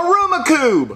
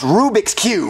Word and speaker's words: Rubik's Cube: a rumiku are you saying Rubik's Cube no Aroma Cube Jeffy it's pronounced Rubik's Cube no it's Aroma Cube Marvin you know what